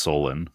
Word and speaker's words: Solon: This was an event recorded by Egyptian priests to the Athenian statesman Solon or Solon? I believe it's pronounced Solon. Yeah, that's what I thought.